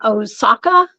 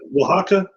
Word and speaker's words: Oaxaca: Oaxaca? Is that what you said? Oh, wow. Yeah, that's how you say it. That's it. Oaxaca. I said Osaka.